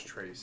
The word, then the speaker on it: Trace: Yeah, my name is Trace, if I didn't mention that. It rhymes with Chase.